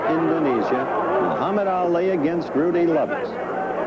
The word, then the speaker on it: Lubbers: Muhammad Ali against Rudi Lubbers. Or Lubbers. It's pronounced both ways. Lubbers is probably more technically correct. Anyway, it's the way Rudi wants it said.